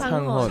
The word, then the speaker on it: Sanghwan: Sang-hon. Sanghon. Sanghon. Like Yeah. honey. Hun.